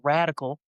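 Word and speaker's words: radicle: tiny root, which is called a radical, but it's spelled with an L E at the end rather than an A L.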